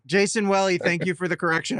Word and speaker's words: Jason Welle: And it's Jason Welle, just for the record. Rhymes with belly. Jason Welle, thank you for the correction.